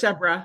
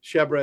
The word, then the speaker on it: Shebra: Sher Sherba Evans shra It's pronounced shebra excuse me shebra Evans and Rebecca srai